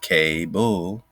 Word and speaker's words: Kabul: so suddenly this chief has the same k-a-b-u-l pronounced k-bull the story continues with the narrative that chief